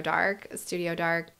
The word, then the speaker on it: DARC: They can literally find me at Studio Dark on Instagram, DARC, pronounced dark, and Camp Kramer at camp_Kramer, I think is how you'll find me.